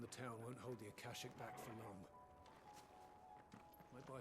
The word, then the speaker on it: Akashic: The lads are doing what they can to keep them out, but unlike the Akashic, they need sleep. No kidding. Akashic. Okay, that's how you pronounce that.